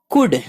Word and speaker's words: could: डे दिन या रोज, COULD कुड यहाँ L साइलेंट है, कुड सकना, गो जाना,